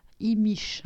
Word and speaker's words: Imix: Imish, en fait, ça se dit prononciation.